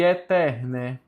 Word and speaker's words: aeternae: E eterna, porque é a mesma coisa que temos dois As mudos, o primeiro e o penúltimo. Então não é a eternae, é eterna.